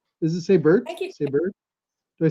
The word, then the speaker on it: Sabert: Sabert?